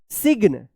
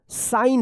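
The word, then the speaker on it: sign: साइलेंट रहेगा। जैसे यहां पे वर्ड्स में देखिए एस आई जी एन इसको क्या पढ़ेंगे? सिग्न आप पढ़ते होंगे सिग्न या साइग्न पढ़ते होंगे।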